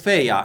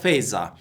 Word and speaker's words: Fejza: called back in 2005 i heard my last name being pronounced as feiya instead of faiza the letter z was